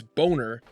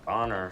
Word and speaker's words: Boner: He parlayed a career of playing characters with names like Gherkin, or in this case, Boner. It's pronounced Bonner, sir.